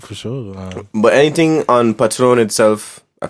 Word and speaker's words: Patroon: But anything on Patroon itself, I pronounce it correct? Patroon, Yeah, you got it.